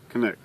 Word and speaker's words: Canik: Canik. Okay. I think Canuck would be the Canadian version. I'm hearing Canik.